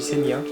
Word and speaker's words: Senja: Les amis, les amis, nous voilà sur l'île de Senia. Ça s'écrit Senja mais ça se dit Senia.